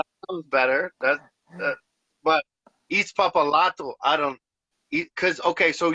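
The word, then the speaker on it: Itzpapalotl: He pronounced it Izpapalotil. So that sounds better. But Izpapalato, I don't, because okay, so you're supposed to like put it. You're supposed to put your tongue on the roof of your mouth, and you're supposed to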